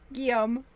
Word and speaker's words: Guillaume: Now, are you going to pronounce his name? Guillaume. And how's his last name spelled? Go ahead. I love when you say it. Guillaume Chazet.